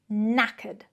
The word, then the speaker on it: knackered: Be careful of the pronunciation. It is not naked, it is knackered.